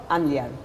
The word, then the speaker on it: Gamliel: We'll be right back with more of Ahuva Gamliel. I said it right this time. Gamliel. Oh, Gamliel.